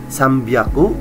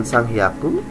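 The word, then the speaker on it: 三百: 300 600 sama 800 300 itu sambyaku bukan sanghaku 600 itu ryaku bukan Raku 800 itu haaku bukan aku ya Oke selanjutnya kita membahas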